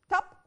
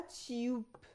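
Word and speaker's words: tube: لونج فاول ولا شورت فاول هو انا قلت تب ولا تيوب قلت تيوب يبقى لما بص كده معاها في النطق بتاعي بقسها كده زي ما اتفقنا مع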